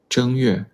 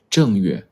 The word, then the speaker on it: 正月: Option A, 正月. Option B, 正月. Which one is correct? Which tone is the correct tone for the first character? Option A. The first character is pronounced with the first tone.